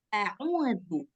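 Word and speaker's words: أعوذ: Nah, maka kita akan otomatis bacanya a'udzu. A'udzu. Dikeluarkan lidahnya.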